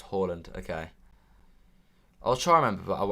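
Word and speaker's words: Haaland: live in norway switch now it's pronounced holland okay i'll try remember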